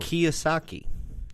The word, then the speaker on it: Kiyosaki: Kiyosaki.